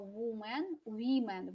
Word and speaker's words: women: вы неправильно произносите, да? Смотрите, man здесь совпадает, да? Но women во множественном числе. Man, women. Вспомнили?